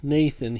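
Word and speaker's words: Gnathan: that's how we named Nathan here and Nathan is spelled g-n-a-t-h-a-n with a silent G and behind him is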